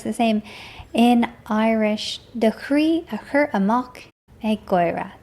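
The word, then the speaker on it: croí: The chree a chur amach ag goy-reh.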